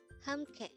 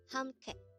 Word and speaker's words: 함께: 함께. 함께. This is composed of two syllables. The first syllable is ham, second syllable is ke.